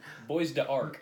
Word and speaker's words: Bois d'Arc: Bois d'Arc. Bois d'Arc. It I had no idea how to pronounce it.